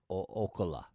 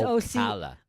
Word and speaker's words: Ocala: Ocala. Did I say it right? Ocala. Oh, I didn't say it right. It's Ocala.